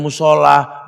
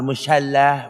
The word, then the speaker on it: musala: Makanya musala bukan musyalla.